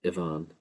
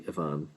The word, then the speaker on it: Aoibhín: could be pronounced as Aoibhín. The double N at the end in modern Irish can give length to this so this could be Aoibhín.